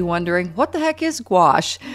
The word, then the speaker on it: gouache: what the heck is gouache well pronounced very much like squash the vegetable it's a medium that